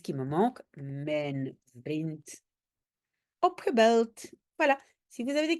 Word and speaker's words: opgebeld: donc ça va être opgebeld. J'ai un D à la fin, même si je le prononce comme T, mais j'ai un D et ça c'est le fameux soft ketchup.